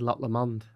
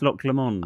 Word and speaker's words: Loch Lomond: I think I said Loch Lomond. Which sounds a lot better. Yes, Loch Lomond. I'm going to Loch Lomond.